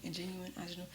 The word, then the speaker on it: Ingenue: That's how you say it, Ingenue.